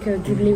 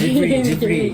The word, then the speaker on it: Ghibli: Because when I was little, I was watching a lot of Japanese movies, like Ghibli ones. Sorry, Ghibli. yeah, Oh, the okay. Japanese pronunciation.